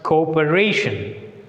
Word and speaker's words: cooperation: Here is also the word ends with ION. So it is also applied with the rule penultimate. So second syllable from the end R. So where should we put the stress mark?